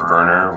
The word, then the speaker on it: Verner: And my dad's side is the Verner, which is originally spelled with a W as Werner.